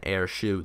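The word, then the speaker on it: AirShou: Then in the search bar, we will type in AirShoe. This is spelled A-I-R-S-H-O-U.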